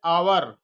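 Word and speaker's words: hour: an एन और एक है आवर आवर माने घंटा नहीं होता है समय घंटा आवर मीन्स घंटा एच ओ यू आर एच ओ यू आर को हावर नहीं पढ़ेंगे क्या पढ़ेंगे आवर तो पहला उच्चारण क्या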